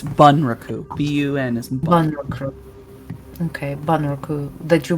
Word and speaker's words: bunraku: recruit is that how you say it it's bunraku b-u-n is okay that you mentioned perhaps something